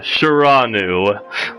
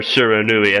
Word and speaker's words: Shiranui: brightest note was dubbed me Chiron ooh or Shiranui as it's actually pronounced well who cares the